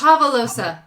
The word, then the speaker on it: Javelosa: actually pronounced Javelosa.